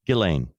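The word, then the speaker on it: Ghislaine: Oh yeah, that was butchered so many times until we finally got to Gileain.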